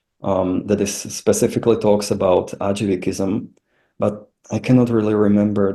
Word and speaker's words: Ajivikism: Could you name some literature on how do you pronounce this again? It's Ajivikism.